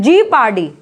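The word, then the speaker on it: jeopardy: Okay, जियो लगा के नहीं बोला जाता है, जीपार्डी। पी साइलेंट होता है जब एस या टी के पहले आता है।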